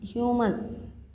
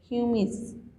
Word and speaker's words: humus: I rhyme with famous. I am famous. Famous. Humus. See, humus, famous, humus, HUMUS, humus. See, Nana, this is the humus.